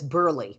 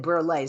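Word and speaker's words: Burleigh: I was just told I mispronounced your last name, that it's Burley. And I think I said Burley, so my apologies.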